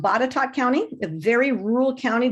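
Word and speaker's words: Botetourt: um the first one in Virginia it's it's pronounced batat County a very rural County just north of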